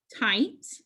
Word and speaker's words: tight: makes the long sound the g and h are silent so this says it tight and for the final